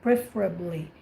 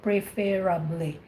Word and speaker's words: preferably: said preferably i love that when you said preferably that's how you pronounce it you don't say preferably preferably that's really good but there was one